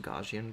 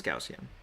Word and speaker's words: Gaussian: of just a uh how's that pronounced? Gajian blur. I can't believe I've been a graphic designer for 25 years and I don't know what I don't know how to pronounce that. I always say Gaussian in my head. Let's see. Oh, it is Gaussian. I was right.